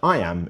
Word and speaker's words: iamb: The word I am is pronounced just like the phrase I am.